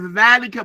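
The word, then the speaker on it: ذلك: The word is dhalika, but the aleph is not written.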